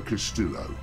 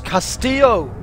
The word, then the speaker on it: Castillo: is in sasadri Tower you are Zoe Maya Costello a resident of son and shine Plaza is by ocg are you pronounced like a j stay off the street it's Castillo you look like you could need some directions